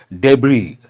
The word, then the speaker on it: debris: we use the word debris the last letter is silent debris all those you have